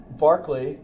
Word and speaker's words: Berkeley: have heard of it Barkley or Berkeley which do you say Berkeley Berkeley I've heard other pronunciations um Barkley is the pronunciation of the bishop himself in that video I